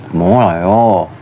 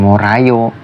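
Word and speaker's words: 몰라요: jika r k yaitu molayo molayo Bukan morayo tapi molayo yang artinya tidak tahu terus yang ke contoh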